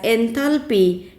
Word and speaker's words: enthalpy: Now we move towards the second thermodynamical function known as enthalpy. It is always denoted by the notation capital H. Enthalpy, here L is silent, enthalpy.